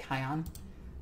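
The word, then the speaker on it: Kauyon: And then Koyon, or however you want to pronounce it. I always pronounce it Kion, mostly because of the Psyker.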